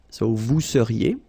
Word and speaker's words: vous seriez: So here when you've got this Z at the end, then you get the sound et seriez. So vous seriez, okay?